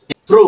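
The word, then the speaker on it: through: পাই দেখো টি এইচ আর ও ইউ এইচ থ্রু right থ্রু টি এইচ আর ও ইউ এইচ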